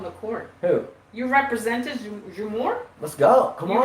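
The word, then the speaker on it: Džumhur: It's pronounced Jumhur.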